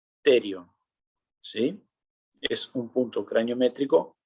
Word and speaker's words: pterion: Ese punto de encuentro que estoy señalando yo se llama terion. Se escribe con P, terion.